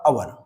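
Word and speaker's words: hour: है राइट कि अगर जैसे मैंने कहा अवर ठीक है इसमें एच साइलेंट है राइट अगर मैं इसके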